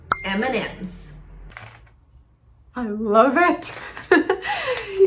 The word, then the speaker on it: M&M's: Então, pronunciamos M&M's. I love it! Em português, a gente fala simplesmente o som da letra M para nós, que é M. Então, o truque aqui é só falar o som da letra M em inglês, que é M.